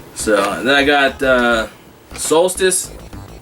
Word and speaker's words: Solstice: So, and then I got Solstice, like I showed you before. When I was a kid, I used to pronounce it Saloust.